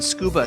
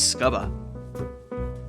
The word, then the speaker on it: scuba: the words within them the u in scuba stands for underwater with a short u but nobody says scuba plus there's one final